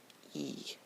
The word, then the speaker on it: I: In English it is I. In French it is E. And it is pronounced similar to a long E, or when two E's are put together, like in the word tree.